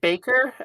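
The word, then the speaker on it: Baykur: I guess you could pronounce it Baker. Um I I think either pronunciation's fine. Baker is probably perfectly fine.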